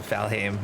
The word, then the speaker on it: Valheim: I was saying it right. It just sounds so similar to the other word. It's hard to tell the difference.